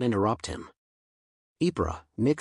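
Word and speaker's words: Ypres: speak Belgian or Woon Ken explained as it was a tongue twister word the S is silent and the r is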